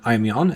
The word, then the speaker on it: Aimyon: If you're an Aimyon fan, this is definitely something to look forward to. You're saying it wrong. It's Aimyon. Aimyon.